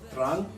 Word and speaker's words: Trang: The first city that we visited was a city called Trang, or Trang, as you're supposed to pronounce it.